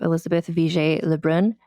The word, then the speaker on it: Élisabeth Vigée Le Brun: So I'm joined today by Jordana Pomeroy, the author of Daring, the life and art of Elizabeth VJ Leun. Am I pronouncing her name correctly?